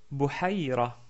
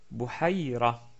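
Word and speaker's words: بحيرة: Deuxième mot, Bouhaïra. Bouhaïra. Là, par contre, ce n'est pas le son de la lettre Kha qui est prononcé. En fait, il s'agit de la lettre Ha, qui est ici au milieu.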